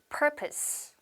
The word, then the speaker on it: purpose: purpose. 한 번 더. purpose. 근데 이 단어를 purpose 이런 식으로 발음하시는 분들이 많으시더라고요. 한 번 더.